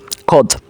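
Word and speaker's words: خود: এবার খদ, এখানেও কিন্তু দেখুন ওয়াওয়ের উচ্চারণ হয় না।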